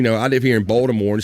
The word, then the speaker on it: Baltimore: I live here in Baltimore, and sometimes people say Balmer. They don't even put the fucking T's in. Balmer. Balmer. There ain't no fucking T, nothing in it.